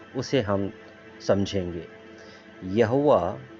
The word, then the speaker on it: यहोवा: या यहोवा कौन है उसे हम समझेंगे यहोवा इब्रानी या फिर इब्रू नाम यावे का हिंदी उच्चारण है जिसे यावे भी कहा